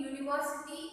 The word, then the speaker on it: university: Uni is not pronounced as an vowel. Okay. University, again university, it's silent. It's pronounced as university, it's pronounced as Y.